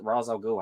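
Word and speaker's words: Ra's al Ghul: uh talia al ghul ra race raj razor ghoul however you guys want to say it there's two pronunciations um hush i think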